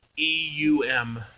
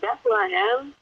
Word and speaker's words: Betheleum: Betheleum. Okay. Yeah. And no, it's not Bethlehem.